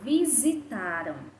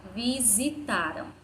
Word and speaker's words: visitaram: e 6 problemas e no vocábulo visitaram a letra s tem som de z vamos falar a palavra visitaram visitaram sim o sl tensão